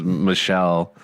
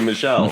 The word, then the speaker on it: Michel: when his name is Michelle. And you're right, I actually did pronounce that wrong, didn't I? It should technically be Michelle.